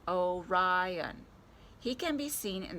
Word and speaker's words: Orion: is called the hunter the hunter's name is orion you say it like this orion he can be seen